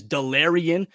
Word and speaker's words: Delarrin: side of things but let's get to know delarion turner yell safety out of oklahoma and yes that's how you pronounce his first name despite the spelling it is delirian turner yale for those of you that are